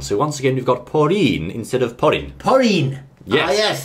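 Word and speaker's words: ポリン: have Pauline now again we don't have the L Sound in Japanese so in Japanese we're going to say porin porin so oh yes I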